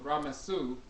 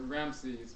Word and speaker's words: Ramses: They found that the same haplogroup, for example, in Ra-Mesu, often called Ramses, misnomer Ramses, mispronounced Ramses, that haplogroup E1B1A can